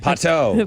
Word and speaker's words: Pato: Pato.